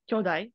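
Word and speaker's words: 強大: So kyodai with a short kyo, kyodai, not kyodai. You didn't read kyodai, but I just want to point that out because kyodai with a long O is siblings.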